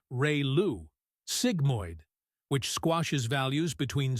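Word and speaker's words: ReLU: Some of the most common ones include re lu pronounced ray lu sigmoid which squashes values between 0 and 1 and hyperbolic tangent or tench which outputs values between -1 and 1.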